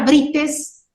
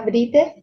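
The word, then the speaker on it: Brítez: Y es aguda, porque yo pronuncio con mayor intensidad en la I. No digo brites, digo brites.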